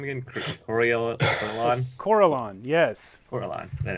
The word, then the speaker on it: Corellon: do you say his name again corellon yes corellon that it's true and you do not know